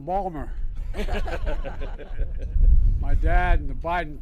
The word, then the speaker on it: Baltimore: Say to my dad, Dad, they're mispronouncing Balmer.